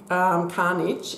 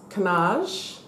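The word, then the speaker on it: cannage: Eventually I will do and sorry, in my last video I pronounced this carnage. It's canage is the style of the pattern that Christian Dior use, canage. So it's not carnage, that's another word.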